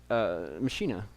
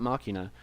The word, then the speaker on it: Machina: He is also Machina, not Machina, spelled the same way, same kind of same definition. I just prefer to say it Machina. I like that pronunciation better, and it does work with that spelling.